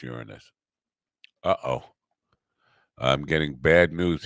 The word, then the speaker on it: Uranus: And by the way, it's pronounced Uranus, not Uranus. I just want to make that clear. We always get that wrong. It's an easy joke, but it's pronounced Uranus.